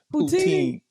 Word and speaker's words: poutine: I had pronounced and they were just laughing like, "How you pronounce it?" Poutine.